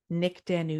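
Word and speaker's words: Nyk Danu: and just make sure that you tag at Nick Danu Yoga, which is spelled NYKDANU Yoga, or at Yin Yoga Podcast, so that I can share the love.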